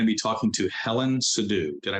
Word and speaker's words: Sidhu: Today's episode, I'm going to be talking to Helen Sidhu. Did I pronounce that correctly, Helen?